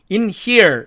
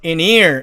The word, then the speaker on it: in here: B번 여기 나와 있는 단어를 사전식으로 읽으면 in here 이렇게 되죠. 그러나 이런 경우도 은과 흐가 만나니까 이 H가 사라져서 in here 이렇게 발음된다는 얘기입니다.